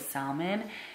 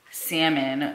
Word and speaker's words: salmon: i say salmon because i used to pronounce the l which i guess you're not supposed to i used to call it salmon and he told me